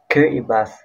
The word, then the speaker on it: Kiribati: Let's talk about Kati another island nation part of Macan region about Kbati another island nation part of the Micronician region Kibati pronounce Kibas a small island nation